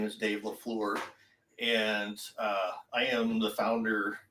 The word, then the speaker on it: La Fleur: I mispronounced it right, La Fleur, I Correct.